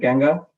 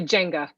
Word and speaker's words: Genga: Representative Genga, Representative Genga, just making sure I'm saying it right, like that no one can be confused. Representative Genga, It's actually Jenga.